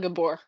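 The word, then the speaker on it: Gabor: It's Gabbor.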